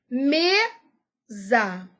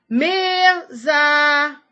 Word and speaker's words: mesa: Mesa. Qual é a sílaba tônica? É o me. Por quê? Mesa. Ô, mesa. O me eu falo mais forte do que o za.